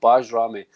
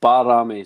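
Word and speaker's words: Bajrami: given apparently it's not baj Rami the J is silent it's barami so call him B barami yeah I think we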